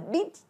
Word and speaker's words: peach: Âm y dài nha, đừng đọc là bitch, bitch hay là pitch, pitch, mà nó là e, p, peach, peach tea, peach tea, trà đào mọi người nha.